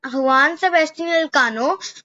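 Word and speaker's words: Juan Sebastián Elcano: After this, Magellan's deputy, means his partner, Juan Sebastian Elcano, but we will pronounce it as Juan Sebastian Elcano because we pronounce it like this in Spanish.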